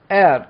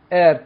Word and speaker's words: heir: famous fur guilty of air to h is silent here heir to she is an